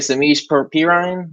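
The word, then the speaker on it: Samaje Perine: The Bengals won 37-31, and how you say it, Samish Perine?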